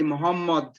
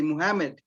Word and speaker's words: Muhammad: names properly as well so for instance we say muhammad now in english you don't have the so you say muhammad muhammad they say muhammad which is incorrect i mean in terms